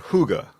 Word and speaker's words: hygge: basically is a co-working community and it's called hygge which is spelled h YG GE okay and it's like